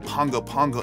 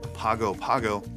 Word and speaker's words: Pago Pago: if you are wondering why I keep saying Pongo Pongo and not Papago Pago is because that is the capital city of American Samoa and that's how they say it there American Samoa has been